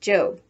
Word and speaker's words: Job: off to her job which in the bible is pronounced job remember that the one